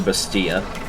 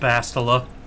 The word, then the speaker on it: Bastila: That item is probably for Bastia. Oh, the light riding prop. It's pronounced Bastila. Bastila? Okay. Sorry.